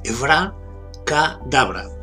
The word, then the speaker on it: abracadabra: Sería Evra, con acento en la A, Evra Kadabra.